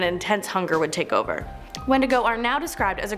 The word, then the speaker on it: wendigo: number seven the wendigo so the wendigo or sometimes pronounced windigo has been talked about